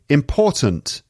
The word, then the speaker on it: important: embarrassed okay next one important important and again the second syllable is stressed important sometimes that at the end gets cut important this is a very important question this is a very important thing sometimes the t at the end disappears